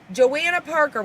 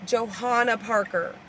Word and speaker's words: Johanna Parker: I'm like, how do we pronounce Joanna Parker? So Spooky Family did some investigating and went through her Instagram and found her saying Johanna Parker. So Johanna Johanna Parker.